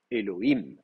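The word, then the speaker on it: אלוהים: sur la dernière Sy Elohim voilà donc c'est le le him à la fin dernière syllabe him ça c'est la dernière syllabe c'est elle qui va prendre l'accent d'accord donc ça c'est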